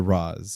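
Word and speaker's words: Ra's: to go with well the correct is Rage it was it was Batman Begins that changed it to Roz I've heard Raz in other places before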